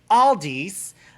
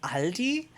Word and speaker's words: Aldi: like no all d's well aldi's doesn't exist it's aldi so german pronunciation al di english aldi literally one word one of the few words that you in english that you pronounce all the darn letters aldi see you said it